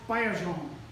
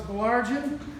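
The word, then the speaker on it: Bélanger: Belageron, by the way, is pronounced Bayajon, and there are quite a few Bayerjans in Quebec, which is where Pete and Florence originally come from. Here in New Hampshire, we Anglos feel that we have to add a number of consonants to the French so that we can pronounce it. Thus, Bayerjean ends up as Belargian, Belargian, or even Belageron or Belangian.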